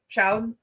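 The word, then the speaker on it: chaud: hot wine they have Chow I think is how you say it that's just French for hot um but we didn't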